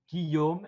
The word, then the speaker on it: Guillaume: those that are again wanting my name it's guillaume if you want to pronounce it right i i when i've watched